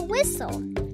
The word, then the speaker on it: whistle: The T is silent.